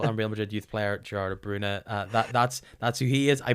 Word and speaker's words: Gerardo Bruna: Gareth, but I do have to correct your pronunciation. I believe it's former Liverpool and Real Madrid player Gerardo Bruna.